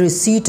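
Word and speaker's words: receipt: पास ये क्या है रि सट है यहां पे पी साइलेंट है ठीक है इसके बाद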